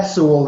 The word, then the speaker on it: Sewell: And is it Sewell that is that how you pronounce? Yeah, Sewell, yes.